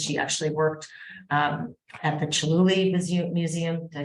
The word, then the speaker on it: Chihuly: She actually worked at the Chihuly Museum, did I say it right?